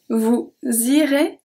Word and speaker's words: vous irez: So the first one, j'irai, is pronounced exactly the same as vous irez. Irez, irez. Because the AI at the end makes the sound E, and the EZ at the end makes the sound E as well. J'irai, vous irez.